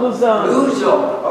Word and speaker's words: Luzon: Is it Luzon? It's an island. Luzon. Luzon. Okay.